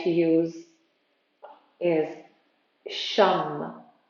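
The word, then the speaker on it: shan: like to use is shum it's it's written as s-h-a-n and pronounced as s-h-u-m it's simple and you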